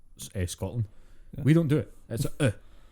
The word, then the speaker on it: Scotland: the fatal mistake of trying to pronounce the t in any way shape or form in the word scotland we don't do it scotland people who say like